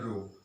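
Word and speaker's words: rho: इसको बोलते हैं रो।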